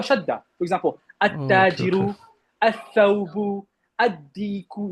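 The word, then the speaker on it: الديك: For example, At-Tajiru, Al-Thawbu, Ad-Diku. You don't say Al-Diku. You say Ad-Diku.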